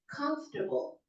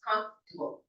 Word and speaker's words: comfortable: as polysyllabic for example the word comfortable it has three syllables comfor four syllables comfortable but because of the American accent that we talked about last week it just becomes two syllables comforable comfortable okay all right